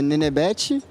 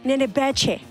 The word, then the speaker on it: Nenebete: Bom, como é que pronuncia é Nenebete, e foi um apelido de quando eu era criança e acabou pegando, acabou curtindo, e é isso.